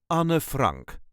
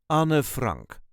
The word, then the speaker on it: Anne Frank: correct Dutch pronunciation is Anna Frank there is no real emphasis Anna Frank Anor Frank on Frank all letters are pronounced at dbook Anna Frank